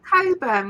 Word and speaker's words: Cockburn: to Jimmy H my why is it pronounced Coburn when it's spelled cockburn I don't know these people